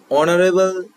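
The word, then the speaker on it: honorable: অ্যান অনারেবল person বা ম্যান, যা কিছু আমরা লিখতে পারি। অনারেবল শুরু কি এইচ দিয়ে, কিন্তু এখানে এইচ এর উচ্চারণ নেই, অনারেবল অ চলে আসছে উচ্চারণের শুরুতেই, সেই জন্য এখানে অ্যান বসলো।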